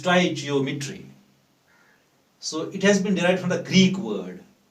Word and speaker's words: stoichiometry: So you must pronounce the word properly. It is stoichiometry.